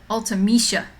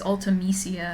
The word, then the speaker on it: Ultimecia: love that pattern but ultimisha oh i always said it as ultimecia i'm saying it wrong oh i'm sorry i